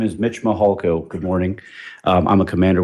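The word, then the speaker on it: Mihalko: court reporter you bet my name is Mitch mahalko good morning I'm a commander with the El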